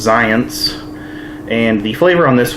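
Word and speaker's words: Xyience: is it's spelled X Y ions apparently it's pronounced science and the flavor on this one is cherry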